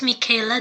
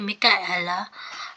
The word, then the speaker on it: Micaela: So my name's Michaela. Well, mostly that's how they say it, but I get tired of correcting them. But it's actually Micaela.